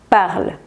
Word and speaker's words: parles: la última, ya que se pronuncian igual, pero ojo, se escriben diferente como pueden verlo.